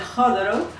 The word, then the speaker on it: Chodorow: natural al libro de John Chodorow, que se pronuncia Jodorov, Danza, Terapia y Psicología Profunda.